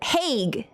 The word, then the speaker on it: Hague: It's HAGUE in English, but a HAG in Dutch. Ha! How you said it's probably closer to the Dutch pronunciation.